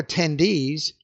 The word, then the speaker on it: attendee: 20, the presentation on economic theory was so boring that several attendees left early. Did you catch that words in English that end in EE? The stress is on the final syllable.